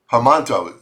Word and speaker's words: Hermanto: Wasn't it Hermano one time? Hermanto is actually the way to pronounce it.